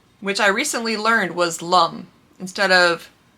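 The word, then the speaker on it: L'Homme: say your GEOS or LOM which I recently Learned was Lum instead of LOM which I've always said it's Lum so I've been saying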